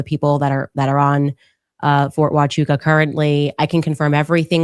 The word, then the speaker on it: Huachuca: And Huachuca. Thank you. I knew I pronounced it wrong.